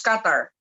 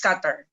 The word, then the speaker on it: Qatar: Is that how you pronounce it? Yes, Qatar. It's Qatar.